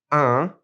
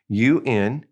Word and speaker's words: un: First of all, we have un, U-N, and we're going to push that in through our nose. It's a nasal. And the other way is une. And since it has an E, now we pronounce that in une. So un and une.